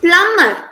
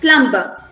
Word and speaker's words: plumber: It's plumber instead of plumber.